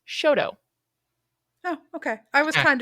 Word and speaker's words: Choteau: And CHOTEAU is Shoto.